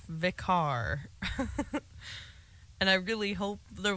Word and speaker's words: Vikare: It is pronounced Vikare.